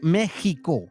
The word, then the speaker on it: México: Ahora, comprendan que la gente en ese tiempo no podía decir la X, para ellos poder pronunciar esta palabra, tuvieron que, pues, incluir la J. Se dice México. También lo puedes decir con la X y en unos casos con la G, ¿ok?